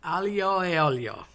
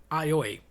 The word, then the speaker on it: aglio e olio: No one says this right. Aglio is garlic, ajo in Spanish. A, as in the letter E, pronounced A, meaning and olio, oil. So garlic and oil. I have grown up hearing aioi.